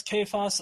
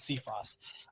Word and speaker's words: Cephas: Cephas who are Cephas kaos I've heard it pronounced both ways so stop giving me about how not you specifically but I've seen it expressed both ways chaos and see Frost either way that you